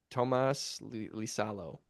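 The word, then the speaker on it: Tuomas Iisalo: Oh, I can't even pronounce that I name. believe Tomas T- Lisalo? Tomas Lisalo.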